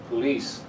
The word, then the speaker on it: police: the same thing with this word police the second syllable is a strong one police sound right be right it's the first